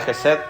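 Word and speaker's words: חסד: como misericordia y en el hebreo esta palabra se pronuncia Jes. No vale, no vale la pena igual ese detalle, pero muchos textos de la Biblia traducen esta palabra Jesed como misericordia, pero en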